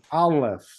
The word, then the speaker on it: Aleph: So you have the A, the L sound, and the F sound.